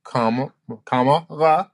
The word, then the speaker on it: Kamala: And basically, instead of her name, it's a comma and then an LA, so that you know how to say her name, Kamala, right?